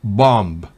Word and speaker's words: bomb: Por ejemplo, si B va después de M al final de una palabra, no se pronuncia. Por ejemplo, bomb, dumb, climb, lamb, thumb.